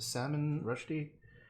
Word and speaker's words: Salman Rushdie: That was the book by Salman, he's pronounced Salman Rushdie.